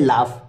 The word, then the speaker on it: laugh: LAUGH, इसको कहते हैं लाफ। ठीक है, इसको लाफ आप पढ़ेंगे।